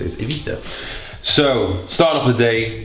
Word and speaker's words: Ibiza: So many people absolutely rinse me for not pronouncing Ibiza properly. Everyone in England says Ibiza, but apparently the right way to say it is Ibiza.